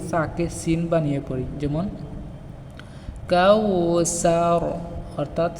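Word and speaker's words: الْكَوْثَر: যেমন কাউসার, অর্থাৎ সাকে আমরা পাতলা না করে সিনের মতো উচ্চারণ করি, কাল কাউসার।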